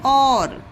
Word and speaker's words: our: इसे पढ़ा जाता है और, इसे पढ़ा जाता है और मीन्स ये देखिए जो यू है, यू हमारा यहाँ पर साइलेंट है।